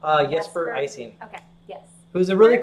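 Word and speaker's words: Jesper Ejsing: Jesper Icing.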